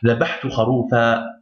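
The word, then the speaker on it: ذبحت خروفا: Par contre, dans le Coran, lorsqu'il y a un N à la fin d'un verset, ou lorsque vous arrêtez à un mot qu'il y a un N à la fin, là il faudra prononcer un A prolongé.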